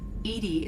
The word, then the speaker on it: EDI: the nominee named edie edie is the phonetic pronunciation of edi acronym for enhanced defense intelligence where are you my